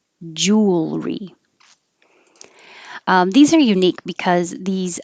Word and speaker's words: jewelry: the airflow deer um it's not three syllables like it looks like jewelry it's two syllables jewelry jewelry these are unique because